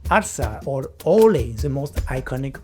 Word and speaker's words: arsa: Other times it's a familiar exclamation like arsa or ole the most iconic of all. Arsa seems to come from the Andalucian pronunciation of alpha from the verb ala meaning to lift or to raise.